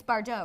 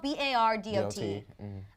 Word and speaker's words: Bardot: It's Bardot, right? I think. I don't know. It's spelled B-A-R-D-O-T. The correct way would be Bardot, I think.